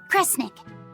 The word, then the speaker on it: Kresnik: The other word attached to it is pronounced cre. Which of those first two readings feels right to you? Sound it out. Cre, snira, cre, snick. Kresnik. Kresnik feels right somehow.